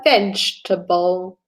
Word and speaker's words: vegetable: it is not a vegetable. There's another pronunciation. Vegetable. It needs to sound like you're saying with a J.